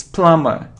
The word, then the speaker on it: plumber: cone it's comb oh and without beef don't pronounce be comb comb it isn't plumber' hello lumber it's plumber it's plumber without diploma it isn't column not